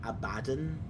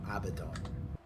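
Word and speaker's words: Abaddon: It is also It is also apparently Abaden, not Abdon. I hate according to according to um GW. Um no, it's Abbidon.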